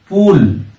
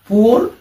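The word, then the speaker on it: poor: এরকম আরো অনেক শব্দ আছে ডবল ও এর উচ্চারণ হয় রস্য বা দীর্ঘ যেমন লুক বুক উল পুল এরকম আরো অনেক শব্দ আছে কিন্তু কিছু ক্ষেত্রে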